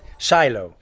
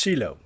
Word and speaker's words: Shiloh: Welcome to Shiloh, or many Americans pronounce it Shiloh. Here in Israel it's pronounced Shiloh.